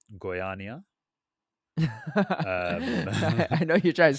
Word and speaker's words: Goiânia: I'm imagining it's hard to get to because honestly, I had never heard of the city until how do you pronounce the city? Right? Goiânia.